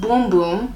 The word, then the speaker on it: Bum Bum: this is a Brazilian bum bum cream infuses all powerful brand its uses all powerful granny extract so what does this do Siri what is Brazilian bum bum cream Oh pronounced boom-boom in Brazil bums are a nationwide